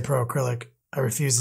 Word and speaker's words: Pro Acryl: say that word Kenny it's acrylic but it's shortened so I just say Pro acrylic I refuse to say